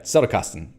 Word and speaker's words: Zettelkasten: More stress on the first syllable. Yeah, Zettelkasten.